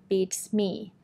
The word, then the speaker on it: beats me: think much about it just remember to put the stress on the second word which is me beats me it's me Heinen say